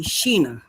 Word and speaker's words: Sheena: My name is actually Sheena and it's spelled like Shaina.